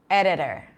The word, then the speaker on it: editor: ee d itor right editor but no one says it like that the T and the D are between two vowels and unstressed syllables both of them some exactly the same editor editor writing am I